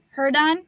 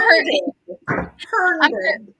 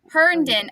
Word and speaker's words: Herndon: Herdon. Oh. Sorry. I'm Herndon. Herndon. Okay, so see, when I typed it in, I missed a letter.